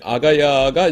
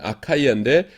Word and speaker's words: 아카이아: 근데 아가야가 이제 아카이아인데 원래 발음은 아카이아인데 우리 말로는 그냥 아가야라고 했고요.